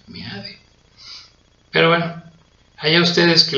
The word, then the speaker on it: Meade: Se escribe meade, se pronuncia meade.